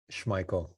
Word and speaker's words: Schmeichel: I always say it wrong. No, Schmeichel. Michael. Okay. The E silent. Yeah, just run with the I.